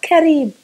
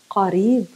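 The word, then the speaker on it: قريب: something that's nearby, close, Qareeb, not Kareeb, not Ka. We're not pronouncing the letter in the front of the throat. We're pronouncing it from the back of the throat. Qa, Qadim, old, Qareeb, close, Qa.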